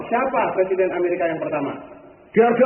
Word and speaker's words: George: presiden Amerika yang pertama George Washington bukan Georgi Bacanya jangan Le George